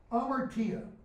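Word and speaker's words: hamartia: or good play Amer Kia notice I didn't pronounce the Hummer it's okay if you say Humper to you amartia Greek word it literally means to miss the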